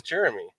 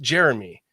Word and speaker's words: Jeromi: it just worked well his name is spelled jeromi yeah so friends called him Romy but it's pronounced Jeremy so he goes by